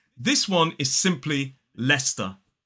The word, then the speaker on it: Leicester: It is not Leicester or Leicester. This one is simply Leicester. Leicester. 2 syllables, the stress falls on the first.